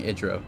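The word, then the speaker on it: Idira: I don't know how to say her name. I think it's Adira. I've been saying Idro, but I think Adira is right there.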